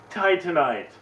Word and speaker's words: Titanite: it was so close Titanite is also how you pronounce that it's Titanite there's no R I've been putting RS in there I know I know